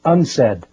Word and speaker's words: UNCED: It is pronounced unsaid and perhaps indicating the secret agenda of this meeting.